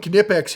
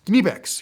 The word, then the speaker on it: Knipex: All right, then we got some Knipex here, and yes, you pronounce the K.